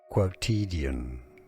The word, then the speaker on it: quotidian: Word pronunciation, originally from French, quotidien. English pronunciation, quotidian, meaning daily, occurring every day.